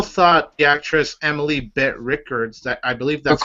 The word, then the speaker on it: Rickards: half, I still thought the actress Emily Bett Rickards, that I believe that's how you pronounce her name. Rickards, thank you.